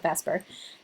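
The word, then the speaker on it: VSEPR: of molecules called the vesper model which has to do with balum shell electron repulsion theory and it's actually ver p but everyone pronounces it vesper and uh so these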